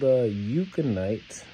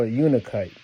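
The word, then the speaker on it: Unakite: Then the two that came in, this one is called Euconite. I believe I'm pronouncing it right. Right? Oh, Unikite. There we go, Unikite.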